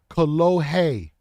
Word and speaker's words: Kalohe: Kalohi says that it's Hawaiian, pronounced Kalohe.